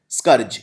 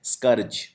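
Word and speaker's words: scourge: एंड I think this is the most important word स्करज। यह noun की तरह यूज़ होता है। और इसका उच्चारण भी ठीक से करिए। कई लोग इसे बोलते हैं स्कर्ज या स्कारज। इसको बोलते हैं स्करर्ज।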